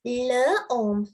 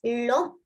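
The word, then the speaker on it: l'homme: Yes, we do not pronounce this as le om. We pronounce it as lom.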